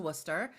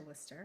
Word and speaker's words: Worcester: And the people in Worcester right now are very impressed that we pronounced it correctly because we're not from Massachusetts, but I've been to Worcester. I've been to Worcester.